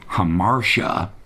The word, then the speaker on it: Hamartia: Here comes Hamartia, pronounced correctly.